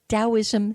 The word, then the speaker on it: Taoism: is spelled T it Taoism starts with a T not a D but that it's pronounced as D so T for Thomas